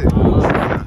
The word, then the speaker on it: Trona: T 발음이 T급 발음이 아니라 뭐죠? 치옷 발음이 되잖아요. 치가 돼, 치. 추러나. 추러나 먹으러 갈까 했는데. 아, 추러나.